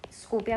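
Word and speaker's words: Skopje: स्कोपिया, इसको लिखते अलग है, स्कोपिया प्रोनाउंस करते हैं।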